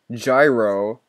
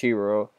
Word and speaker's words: gyro: for a month looking gyro or a hero actually that's pronounced hero you smack that little